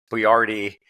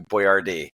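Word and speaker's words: Boiardi: it came up that the guy's name was actually spelled and pronounced bardi but it had been Americanized or westernized to Boyard so I was like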